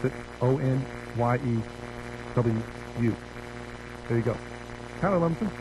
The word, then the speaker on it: Onyewu: First name Oguchi, last name Onyewu. I think it's how you pronounce it. Onyewu.